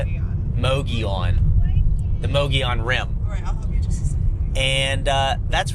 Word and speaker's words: Mogollon: Mogollon.